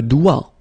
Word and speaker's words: doigt: Okay, so don't be frightened by this G because basically you don't pronounce it and then the final T you don't pronounce it. So the only thing you get to pronounce is this combination of three letters, here, D, O, I, okay? O, I, it's wa, and then D, doigt. That's the only thing.